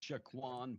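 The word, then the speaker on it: Saquon: Shaquan, is that right? Yeah. Shaquan Barkley.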